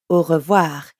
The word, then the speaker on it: au revoir: Try to hear the difference between an English O, versus the French ou. Au. The ou in au revoir is spelt AU, and here it means until.